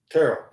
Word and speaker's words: Terrell: Is that how you pronounce it? Yeah. Terrell? Yeah. Terrell.